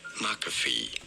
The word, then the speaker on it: McAfee: You do want to stress on the first syllable. McAfee.